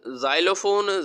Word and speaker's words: xylophone: ठीक है, इसकी आवाज़ कोई नहीं होगी, ये साइलेंट रहेगा। लफ्ज़ बन जाएगा हमारे पास जाइलोफोन, जे अलिफ जा हमजा छोटी आई, जाई लम वालो जाइलो, फे व फो नुन मकुफ फोन, जाइलोफोन, ठीक है।